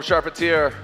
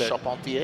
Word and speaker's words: Charpentier: Yeah, I just have a hard time of disconnecting with the French background that I have, and that's how you pronounce it. So I have to think too much about Charpentier.